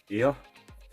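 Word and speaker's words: Aer: to talk about was air i am spelled a e r i think it's pronounced air and memories of old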